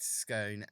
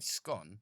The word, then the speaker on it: scone: and i decided to take out that exact scone and eat it for myself note from reddit